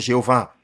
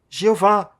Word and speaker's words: Jeová: consoantes do texto hebraico, as vogais da palavra Adonai foram ajuntadas ao tetragrama YHWH. A pontuação das vogais deu lugar à pronúncia Jeová, que se tornou corrente